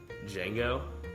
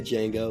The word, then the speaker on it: Django: Django. Oh, I thought you said Django. Like you pronounced the D in it.